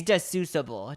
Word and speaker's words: deducible: It's not deductible. The D word. All right, deductible, right? Oh wait, is it? No, wait, is it missing the T? It's deducible. Deducible. This literally makes it sound so dumb.